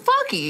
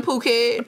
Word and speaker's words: Phuket: I'm like, that's how you say it. It is Phuket. I thought it was fucky.